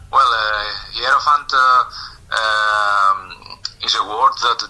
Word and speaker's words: hierophant: um and can you help me with the pronunciation of track two hero font here font yes right well uh hierophant uh is a word that derives from uh